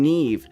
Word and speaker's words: Neve: I'm Neve." She pronounced it softly like never but not quite.